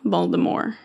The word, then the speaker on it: Voldemort: The T is silent. Voldemort.